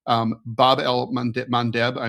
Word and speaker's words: Bab el-Mandeb: Bab el-Mandeb—I am sure I am butchering the pronunciation.